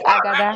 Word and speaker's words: Agada: You tell people and then the young lady come pictures Agada. And they're doing something wonderful. Okay, Agada. Agada. It's Agada.